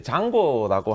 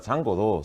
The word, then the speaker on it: Django: 의 이름을 따서 지어졌습니다 그래서 이제 스펠링이 dj 에지오 인데 많은 분들이 어떻게 읽었지 헷갈려 하시더라구요 d 장 곤지 챙 본지 짱군 치 헷갈려 하시는데 그래서 영상이 있습니다 뭐